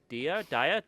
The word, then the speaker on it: Dia: They're shifting away from Arc to a new product called Dia. It's called Dia. That's how you pronounce it.